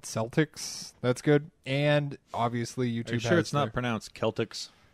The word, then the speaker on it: Celtx: It's called Celtics. That's good. And obviously YouTube Are you sure has it's not their pronounced Celtics? CELTX Celtics script.